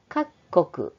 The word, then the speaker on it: 各国: という意味です各国各国これは読み方に気をつけてください小さ上は各ですが各国の場合は各国と読みますでは河川の